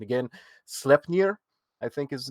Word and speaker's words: Sleipnir: And Odin would fly/ride his horse, which my pronunciation again, Sleipnir, I think is his name, and it's a 6-legged horse. Sleipnir.